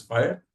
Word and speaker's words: FHIR: it's a no-brainer and fhir is pronounced as fire okay so that's also